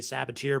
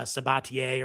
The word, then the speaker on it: Sabatier: using uh uh using the saboteur process and i keep getting uh keep getting in trouble for pronouncing it that way uh sabatier or whatever it's called but in any